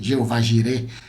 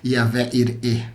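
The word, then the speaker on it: יהוה יראה: yahvé ire yahvé jir como você conhece Jeová jir pronúncia correta no hebraico yavé ire o Deus da Providência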